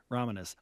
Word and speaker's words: Ramanis: Ramanis.